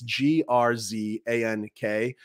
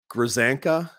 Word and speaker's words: Grzanka: You know, earlier in the documentary, Walsh interviews Patrick, and I'm going to mispronounce this name. It's Grzank. Grzanka.